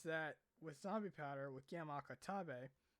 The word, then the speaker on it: Gamma Akutabe: So the thing is that with Zombie Powder with Gamma Akutabe, that's probably Gamma Akutabe. Yeah, that's how you say his name.